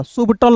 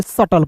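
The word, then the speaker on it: subtle: शुभटल नहीं पढ़ेंगे। सटल पढ़ेंगे।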